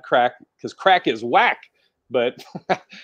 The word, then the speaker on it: craic: Crack is spelled CRAIC, not the bad crack, because crack is whack.